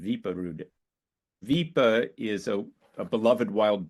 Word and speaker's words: Wiprud: Since Ellis Island, it's spelled in the United States Wiprud, but in Norway it's spelled Viperud. So it's Viperud. That's my closest approximation of a Norwegian accent, Viperud.